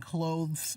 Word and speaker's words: clothes: What's the difference between close the door and clothes, like what you're wearing in pronunciation? Nala, I would say that when you're speaking quickly, there is no difference.